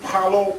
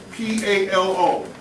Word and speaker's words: Palo: You go to the Botanicas, and it's called Brazilian Palo Primer.